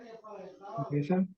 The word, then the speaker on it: desert: Desert. Desert. Desert, exactly, right? Remember, the emphasis about the place, right? It's on the Desert. first syllable, desert.